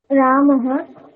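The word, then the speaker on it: रामाः: রামাহা দদাতি নরেন্দ্র আচ্ছা তোমার রামাহ আর রামাহা দুটো শুনতে একই রকম লাগছে ঠিক আছে রামাহা টা পড়াশোনা টেনে বলবে হ্যাঁ রামাহা বলছো তখন তারপর রামাহা মাহা টানবে ঠিক আছে শুনতে একরকম লাগছে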